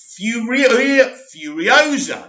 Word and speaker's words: Furiosa: As well as the upcoming Mad Max prequel, Furiosa, that's how you say it.